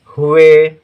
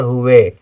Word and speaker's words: हुए: हु ध्यान से सुनिए हुए हु हा के साथ उ का उच्चारण है लेकिन छोटे उ की मात्रा रहेगी क् हुए कम देर के लिए है हुए यदि हुए होता तो बड़े उ की मात्रा होती हुए नहीं पढ़ा जाता हुए पढ़ा जाता है ठीक